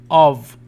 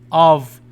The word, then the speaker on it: of: A thrush had a nest on a branch of، تذكر هذه تنطق كفي، of the elm.